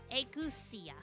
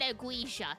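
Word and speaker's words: ageusia: Agusia. Agusia. Okay. I said aguisia. Not even close.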